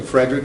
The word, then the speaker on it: Frederick: We'll talk a little bit more about Friedrich to Frederick, is how she pronounced her name.